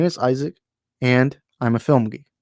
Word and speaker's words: Isaac: comments people often get my name is pronounced it's isaac my my name is pronounced